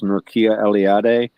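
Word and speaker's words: Mircea Eliade: I believe it's Murkia Eliad. M I r C E A L E L I A D E.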